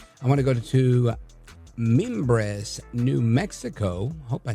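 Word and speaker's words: Mimbres: And I want to go to Meimbres, New Mexico. Hope I said that right. KNW. Let's check in with Sandra. Sandra, go right ahead. Yeah, Sandra. And uh Members, you said it right.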